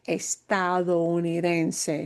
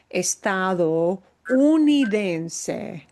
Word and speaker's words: estadounidense: that's what the word estadounidense means. That is a really long word. It is typically a difficult word for US people to learn to pronounce. Estado comes from estados, estadounidense, estadounidense, US citizen.